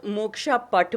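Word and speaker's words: मोक्षपट: कुछ लोग मोक्ष पट बोलते हैं, तो अलग अलग प्रोनाउंसिएशंस हैं, बट it means the same thing.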